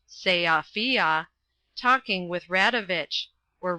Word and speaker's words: Sofia: Then the interesting man, having got the table where he wanted it, had said, "I remember when I was last in Sofia, by the way it is pronounced Seafia, talking with Radovich.